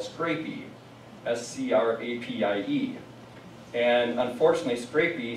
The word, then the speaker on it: scrapie: And so a lot of people around Wisconsin, when I go and talk to them, they always are saying scrapies. And I think, no, it's scrapie.